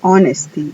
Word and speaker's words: honesty: Por ejemplo, honesty. La H ahí es muda.